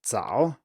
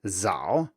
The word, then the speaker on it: 早: will be 早, but if you pronounce it with English pronunciation, as it were, it will be 早, or maybe 早 if you have the stop but still add voicing. So compare the two, first with an English accent and then with the correct Mandarin pronunciation.